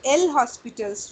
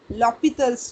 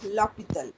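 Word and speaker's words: L'Hôpital: Actually, it is not L Hospital's rule, it is L'Hopital's rule. He was a French mathematician. Spelling is L Hospital, but a Yes, sir. pronunciation is L'Hopital.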